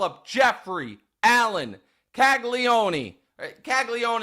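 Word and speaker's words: Caglianone: Kagleion is how they're going to pronounce it. I'm going to pronounce it Kaggleone.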